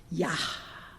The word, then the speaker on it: Yah: So Yah at the end of hallelujah, that's a name for God that's like a breath, right? You're supposed to actually pronounce that H sound at the end. Yah.